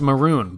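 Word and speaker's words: Mörön: Mongolia named after you sadly it's pronounced maroon but that ruins the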